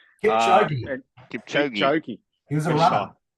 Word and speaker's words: Kipchoge: This is probably the most nervous I've been on a preview trying to pronounce this name. What's it, Mr. Kapioki? Kipchoge.